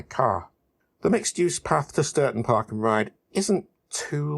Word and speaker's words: Stourton: And yes, it's pronounced Stourton. I think.